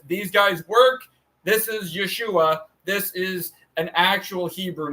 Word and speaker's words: Yeshua: pronounced Yu and we can spell it out ye s h u a we could pronounce it as o o y we can